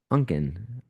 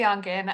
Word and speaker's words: Unken: We're going to go to Unken. Hope I pronounced that correctly. And you're on mute. There we go. Okay, great. Yeah, you pronounced that correctly. Very good. Take it away. My name is Onken.